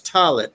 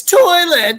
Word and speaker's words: toilet: well that too but I said toilet to one of my code to one of my co-workers talit t-a-w-l-e-t she's like it's toilet say it right damn she was